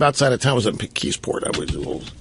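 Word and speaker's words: McKeesport: I My first job outside of town was in Mikisport. I was or as the natives called it. It's a very Polish community. They call it Mechisport because they couldn't pronounce Mckisport. Mechisport.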